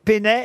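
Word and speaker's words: Peynet: kiosque pé il y a même des musées Pénet au Japon parce que ces dessinsl sont devenus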